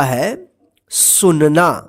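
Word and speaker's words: hasten: लिसन का मतलब होता है सुनना हेसन एच ए एस टी ई एन हेसन हेसन का मतलब होता है जल्दी करना देखिए यहां पे टी जो है ना इसमें साइलेंट रहेगा ठीक ठीक है बैच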